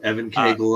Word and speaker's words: Evan Cagle: is those covers yeah the uh is it Evan Kagel is that how I pronounce it yep yep Evan Kagel on the covers um yeah what what was